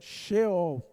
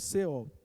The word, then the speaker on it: Sheol: E, na leitura do Antigo Testamento, a palavra é a palavra Sheol, se lê dessa forma, mas se escreve Sheol.